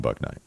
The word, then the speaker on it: Bouknight: of Steve's comments on book Night silent k that's just not gonna